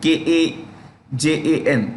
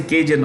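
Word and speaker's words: Kazan: in rasia in Russia that's the way to pronounce Kajun k a j a n kajan and you can say kjun also no harm and the another pronunciation you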